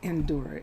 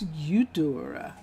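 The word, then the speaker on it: Eudora: for a second oh it's not endur it's udora udora chantos chantos I hope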